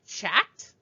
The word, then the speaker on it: chat: Notice that in chat, I don't say chat. And I also you don't even hear any sound for the T at the end of the word.